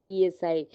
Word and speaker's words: psi: Psi's spelling is, if you are going into the literature and you will find over there psi means psi, police psi nahi. Here your p is silent.